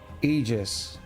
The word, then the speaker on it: Aegis: pronounced like you pronounce ether. So, Aegis.